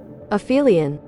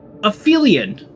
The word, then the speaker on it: aphelion: Okay, but how do I pronounce it? It's when Here we go. Aphelion. Aphelion.